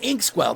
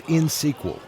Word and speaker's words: Inxsql: Harry, it's insql. You don't pronounce the X.